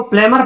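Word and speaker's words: plumber: बी का pronunciation इसलिए नहीं होगा क्योंकि एम के तुरंत बाद आया है। इसको प्लेमर पढ़ते हैं, प्लमर। इसको प्लेमर, कभी कोई बोलता है ना प्लम्बर का काम चला है, ये गलत है, प्लम्बर नहीं होता है, प्लेमर होता है, क्योंकि बी यहाँ पे क्या होता है? साइलेंट होता है।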